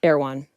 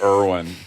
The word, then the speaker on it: Erwan: Erwan. Yeah, I thought it was Irwin. Not Erwan, like the grocery store. Not the grocery store. It's spelled ERWAN.